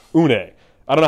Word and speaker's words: une: In this case, it's not nice one, it's Nice one. So it's the French word for one. So it's une.